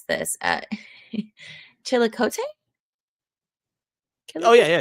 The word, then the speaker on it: Chillicothe: How do you pronounce this? Chillicothe? Oh yeah. Chillicothe is correct. Yep. Chillicothe.